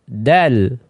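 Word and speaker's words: د: Nah, dal juga sering orang salah nanti mengucapkannya dengan dal. Ya, dal ya. Sekali lagi ini ucapan yang keliru. Dal. Dal, ujung lidahnya menempel di ya pangkal 2 gisir atas.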